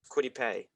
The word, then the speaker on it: Kwity Paye: Sorry if I mispronounced Kwity Paye.